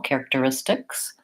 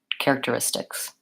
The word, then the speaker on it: characteristics: through this stress syllable characteristics also watching out for that that we have a K and an S sound here at the end of characteristics yeah good question thank